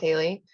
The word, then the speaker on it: Haley: It's pronounced Haley.